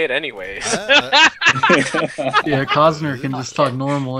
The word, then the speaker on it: Cossner: Yeah, Cossner can just talk normal.